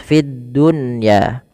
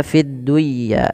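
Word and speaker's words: فِي الدُّنْيَا: dijelas dengan baca jelas Fiddunya tidak dibaca fiduya tapi fiddun ya kemudian khizyahum khizum masukkan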